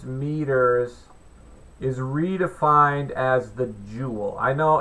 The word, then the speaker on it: joule: is what it looks like you know it's Joule is j o u l e that is the pronounced julno just so folks know so that's